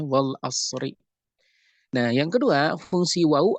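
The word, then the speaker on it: وَالْعَصْرِ: Contohnya wal asri, al asr itu isim, dibacanya kasrah. Kenapa? Karena ada harful qasmi, karena ada qasam, karena ada sumpah. Maka dibacanya wal asri.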